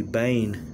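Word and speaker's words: בן: And in Hebrew it's bain, B-E-N, but it's pronounced bain.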